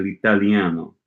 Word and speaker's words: l'italiano: Sono qui a Roma per studiare l'italiano. E tu? Ok. L'italiano is 4 syllables. L'italiano. Or l'italiano. 5. I think it's 4.